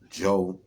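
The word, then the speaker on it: Zhou: the Shang Dynasty and uh Joe Dynasty is pronounced Joe however it's spelled z-o-u-h which oftentimes you're going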